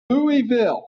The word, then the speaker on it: Louisville: Louisville. The right way to pronounce it, right? King Louis.